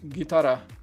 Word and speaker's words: guitarra: You do not pronounce the U, just guitarra. Oh, guitarra.